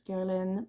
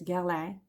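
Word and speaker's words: Guerlain: So, I've been told that I should pronounce Gerlin. I call it Gerlin, but it's Ger.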